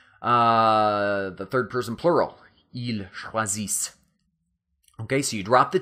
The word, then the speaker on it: choisissent: And then that last box, the third person plural, ils choisissent. Okay, so you drop the T and then add S-S-E-N-T, but don't pronounce the E-N-T, just choisissent, elles choisissent, ils choisissent.